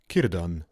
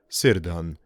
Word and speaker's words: Círdan: It is pronounced Círdan, not Cerdon.